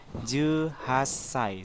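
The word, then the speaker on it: 十八歳: Lagi misalnya 18, Ju Hasai, seperti itu minasang.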